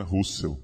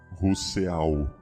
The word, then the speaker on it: Rousseau: Então alguém pode achar que Rousseau se pronuncia Russell, né? Rousseau, né? Não é o mesmo. Russell não é Rousseau.